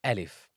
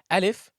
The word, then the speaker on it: alif: just a straight line Al if it's like you're saying Al if Al if is pronounced from the empty space of the mouth and the throat there is really nothing